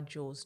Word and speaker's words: Jewels: So this all property by Jules. Jules is spelled J E W E L S.